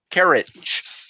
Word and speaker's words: Carriage: Stewie 13, Stuart Carriage. Yes. How do you pronounce his last name, Kim? I've been going with Carriage. Carriage? Yeah. Okay. Yeah, it's carriage. All right.